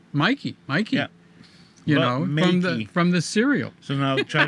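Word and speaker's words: Meike: Yes, 51.8 from, how do you say it, Makey? Oh, Makey. Yeah, I wrote to them because I keep saying Mikey.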